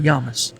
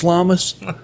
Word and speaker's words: Llamas: I need to say it correctly. Yamus. Okay. In in redneck English is Llamus.